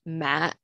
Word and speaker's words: ma: right the first one has no accent so it's pronounced ma and that means funeral the second one has the